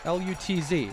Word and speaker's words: Lutz: L U-Tz. Oh, really? I assume it's pronounced Lutz and not Loots as Ryan Lutz's name is pronounced here for West appear.